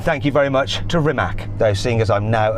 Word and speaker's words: Rimac: Thank you to McMurtry, and thank you very much to Rimac. Though seeing as I'm now an honorary Croatian, I should say it properly. Rimac.